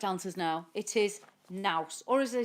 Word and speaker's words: Knaus: And I'd called it Naus, but I know it is Knaus, and that's how they pronounce it, obviously, in the industry.